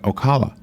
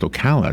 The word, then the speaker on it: Ocala: he kept pronouncing it okolloh or Alcala oh god and I came in I said the city is pronounced Ocala just so you know